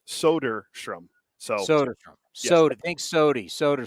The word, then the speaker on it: Soderstrom: just like people used to call him Tyler solderstrom and it's soderstrom yeah because then you say his dad used